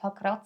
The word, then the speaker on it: Pakrac: La ville, Pakrac, que l'autre personne nous a recommandée ne convenait pas. J'ai toujours dit Pakrac, mais ça s'appelle Pakrac.